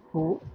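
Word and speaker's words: who: ঠিক তারপরেই আবার এইচ দ্বারা আছে, দেখুন ডাব্লিউ এইচ ও হু, এখানে এইচ থাকার কারণেও ঠিক ডাব্লিউ উচ্চারণটা বাদ যাচ্ছে, এইচ আর ও একত্রিত হয়ে উচ্চারণ হচ্ছে হু।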